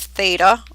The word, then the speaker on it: theta: And moving on down to the last section, find a coterminal angle with a measure of theta. Again, and I just want to spell that out for you.